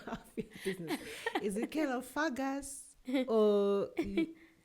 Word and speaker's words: Kalofagas: Um, so calo is pronounced as kalopakus.